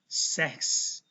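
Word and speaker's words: sechs: CH itu mirip dibaca seperti K tetapi halus. Seks.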